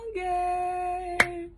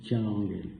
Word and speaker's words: Thianguel: Lui, Thiangel est il dit Thiangel, il faut qu'on le prononce en polaar, le gars là, franchement.